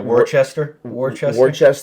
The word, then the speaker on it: Worcester: Worcester.